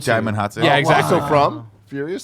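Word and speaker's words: Djimon Hounsou: It's Jaimon Hansu. Jaimon Hansu.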